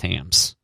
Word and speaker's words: Hamm's: and hopskate so yeah this has clearly always been pronounced hams gotcha right if it